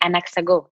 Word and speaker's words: Anaxago: Then you can tell us a bit more about your company, Anaxago. Did I pronounce it correctly?